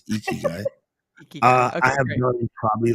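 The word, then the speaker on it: ikigai: always getting it wrong no you actually said it right when people say iy guy want to punch him in the face it's eeky guy I have done probably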